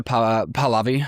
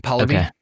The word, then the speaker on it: Pahlavi: Reza how do you pronounce Reza's last name? Reza Pahlavi Pahlavi.